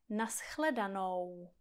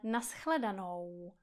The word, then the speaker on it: na shledanou: Takže třeba ve slově naschledanou nebo dobrou noc. Abyste neříkali naschledano, ale naschledanou. Abyste neříkali dobro, ale dobrou.